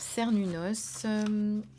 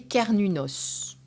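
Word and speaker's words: Cernunnos: force de vie donc alors cerny noces alors qu'il faut prononcer car ninos c'est vrai appelé également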